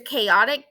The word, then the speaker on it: chaotic: this right here um whether it's chaotic k ah tick that's what a pronunciation